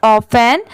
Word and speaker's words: often: T letter यहाँ पर silent है, यहाँ पर इसे क्या पढ़ेंगे ऑफेन।